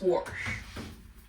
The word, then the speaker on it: wash: sauerkraut and kabasi so normally and how I grew up we'd wash our clothes but here it's warh uh by the way